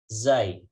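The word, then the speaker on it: ز: Zai. Maka pengucapannya adalah zai. Seperti kita mengucapkan atau menyuarakan suara lebah.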